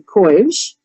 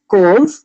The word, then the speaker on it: couve: I will tell you, I grew up saying courge, right? And then I was told, no, it's not courge, it's couve. But then there's, with how you were saying it, couve.